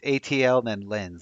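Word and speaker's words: ATLiens: proving your own point it's ATL then lens like aliens but with TL now we can't do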